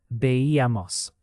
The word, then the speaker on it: veíamos: Veíamos has that stress on E. Veíamos. The accent mark helps you hear the rhythm.